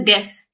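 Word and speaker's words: です: sama seperti besok ini decu juga banyak yang salah karena decu ini disebutnya pengucapannya hanyalah Des jadi bisa di Kudus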